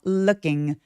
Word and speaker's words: looking: 그리고 여러분 룩 발음할 때루킹 아니고요. 입술 내밀지 않고 으에 가까운 발음으로 발음해요. looking 소리 또렷하게 내치고요.